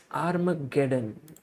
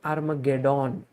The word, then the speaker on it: Armageddon: was armageddon done okay you have to say done at the end not dawn so the game between